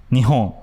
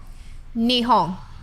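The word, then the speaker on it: 日本: japanese it's completely different so we say japan in japanese called nihon nihong that's right so if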